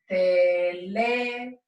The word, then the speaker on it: teléfono: So let's break it up roughly into syllables, and we will do teléfono.